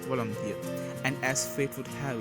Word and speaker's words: Volodymyr: In Russian, the name is pronounced Vladimir and Ukrainian Volodymyr.